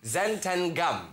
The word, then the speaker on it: xanthan gum: a look at it you can either go talent and gum or you could say it like it's supposed to be said xanthan gum which is absolutely phenomenal